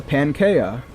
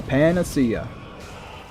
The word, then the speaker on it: panacea: so mad as when I figured out the correct pronunciation for Panacea for my entire life I was like oh yeah that's a pancaya nope it's a Panacea you know very recently